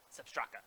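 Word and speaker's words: Sepp Straka: Sep Straka.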